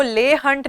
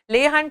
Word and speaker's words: Leigh: Then we have John Keats, who was जिनको ले हंट नाम के राइटर जो थे, who was a periodical manage करने वाले एडिटर भी. ले हंट, LEIGH हंट. ले हंट used to call him Junkets, JUNKEETS.